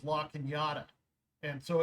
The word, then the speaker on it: Cañada: Now we have a little city out here called La Cañada, and so it's spelled Canada except for the Enya. And so we sometimes, back when I was going to Cal Poly, it's Cañada.